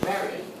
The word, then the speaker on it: Marriott: So of course, Marriott, American hotel chain, the way to pronounce it is Marriott.